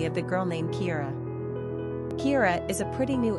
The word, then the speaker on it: Kiera: Pronunciation, Kiera, Kiera.